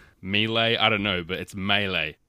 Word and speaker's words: melee: around melee melee melee I don't know but it's melee it's a French word but we've adopted it